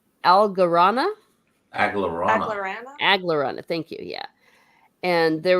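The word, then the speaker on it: Aglaranna: how do you say her name algarana aglerada aglerana thank you yeah and there was some dialogue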